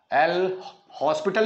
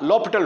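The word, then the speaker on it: L'Hôpital: जो है उनके अंदर ल पिटल रूल इस्तेमाल होता है तो अप्लाई ल पिटल रूल स्पेलिंग लिखेंगे हॉस्पिटल एल हॉस्पिटल नहीं पढ़ना इसको लपट रूल पढ़ेंगे हम इसको ल पिटल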